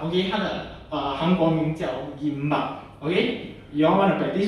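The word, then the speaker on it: 김밥: Okay, so the name is gimbap. Okay, 它的韩国名叫 gimbap. Okay, you all wanna practice together? 一起讲，一二三。 gimbap. 杨文。gimbap.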